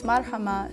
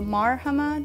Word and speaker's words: Marhama: I found, is that people tend to emphasize a syllable in my name. So they go Marhama, they go Marhama or Marhama, so it's usually this middle one.